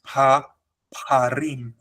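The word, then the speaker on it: פרים: Par is spelled with a short a sound with the kamats, but here you have the full patach. So here you have a deep a sound.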